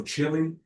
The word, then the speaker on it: Chile: The e is the e sound is deleted and the a here is like vowel. So chili. Chile.